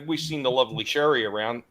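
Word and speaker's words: Cherie: It's spelled C H E R I E but it's Sherry.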